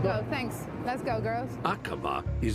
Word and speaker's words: Aqaba: Aqaba? Is that how you would pronounce it? Yes, Aqaba. That's right, Iris.